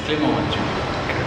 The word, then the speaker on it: Clement: It's Clement. Clement. He would know to pronounce his name best.